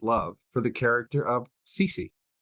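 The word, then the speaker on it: Cecy: And didn't we, as young readers, first have an adolescent love for the character of Cece? Am I pronouncing it the way others might be? Cece, yes.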